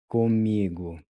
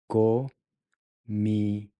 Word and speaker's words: comigo: Comigo. Comigo. Comigo. Comigo means with me. Once again, the O is pronounced like a U, giving you gu.